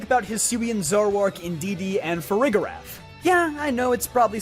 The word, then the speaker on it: Farigiraf: Pokemon, so think about Hisuian Zoroark, Indeedee and Farigiraf. Yeah, I know it’s probably supposed to be pronounced Farigiraf, but I think this way sounds more fun.